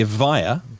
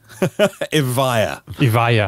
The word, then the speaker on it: Evija: The Evija. Evija? Oh, thank you. I would have pronounced so wrong.